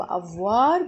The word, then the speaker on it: avoir: verb avoir عندنا بقى en français verb avoir بمعنى يملك أو عنده بمعنى يملك أو عنده. verb a ركزوا بقى av الاو اي تتنطق واو والار تنطق في نهاية الكلمة فبقول avoir او avoir verb ايه يكون.